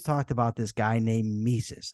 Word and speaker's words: Mises: about this guy named mises I pronounced it mices at the time so they have his